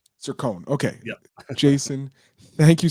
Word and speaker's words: Cercone: It's Cercone. Cercone.